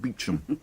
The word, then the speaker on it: Beauchamp: A lot will depend on Superintendent Beauchamp, pronounced Beecham.